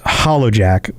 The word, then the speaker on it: HallowJack: bit more detail his the actual name is ha le zek which hha but is generally pronounced hollow jack or lord hollow jack and he's a dread